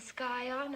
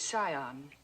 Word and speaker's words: scion: Yale, a yacht, and the scion of a prominent family. The word is scion. The C is silent.